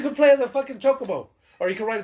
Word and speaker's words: Chocobo: How else is it pronounced? Chocobo. That's how I normally say it. Chocobo.